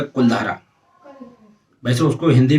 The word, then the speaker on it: कुलधारा: जैसलमेर ज़िले में एक गांव है कुलधारा। वैसे उसको हिंदी में कुलधारा बोलते हैं, लेकिन अगर इंग्लिश में आप उसका प्रोनाउंस करेंगे तो कुलधारा हो जाता है।